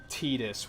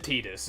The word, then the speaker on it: Tidus: Honestly, that's probably why they pronounce it Tidus, is because that's probably the Japanese pronunciation, and they were just kind of like, that's what it is now.